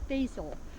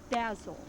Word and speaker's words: basil: And now we have an herb that is pronounced by many as basil. But the proper way to say this is think of dazzle, and this is basil.